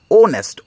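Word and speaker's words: honest: এখানে এন হয়েছে অনেস্ট এইচ হচ্ছে কনসোনেন্ট কিন্তু এখানে ও উচ্চারণ হচ্ছে ওনেস্ট ও তার জন্য এন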